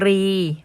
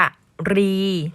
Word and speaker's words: กรี: ต่อ ไป ก็ คือ คำ ว่า กรี อ่าน ว่า กรี หมาย ถึง กระดูก แหลม ที่ อยู่ หัว กุ้ง นะ คะ หรือ อ่าน ว่า กะ รี ถ้า หาก ว่า อ่าน ว่า กะหรี่ นี้ ไป ว่า ช้าง อย่าง เดียว เลย นะ คะ นัก